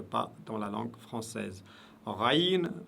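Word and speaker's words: غين: Raïn, raïn, qui n'existe pas dans la langue française, est prononcé toujours lourdement, aucune exception.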